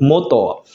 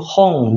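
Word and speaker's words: 本: Nah, untuk kunyominya ada satu, yaitu moto. Kemudian untuk ongyominya juga satu, yaitu hong, buku, kayak gitu.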